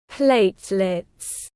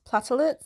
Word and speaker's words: platelets: Hi, it's Chloe 5 days into the future, so it's pronounced platelets, not platelets. I don't know why I said that.